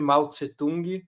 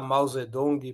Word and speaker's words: Mao Zedong: há 40 anos atrás, porque antes se escrevia sempre Malt Setung. Setung éou se escrever e se falar Mausedong para padronizar eh a grafia do nome dele.